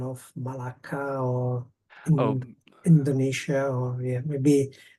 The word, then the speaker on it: Malacca: That's like how it said Malaca Indonesia.